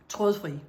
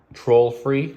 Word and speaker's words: Trådfri: IKEA in English, okay, how do you say it right? Trådfri. Troll-free? No, you're saying like troll.